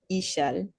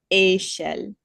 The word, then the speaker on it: échelle: So in English, in the English accent, it would be échelle. But in French, it's échelle because of that accent.